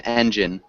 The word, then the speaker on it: engine: get compliments compliments yes it is the intonation compliment and then engine we emphasize the first syllable as well engine engine hello listen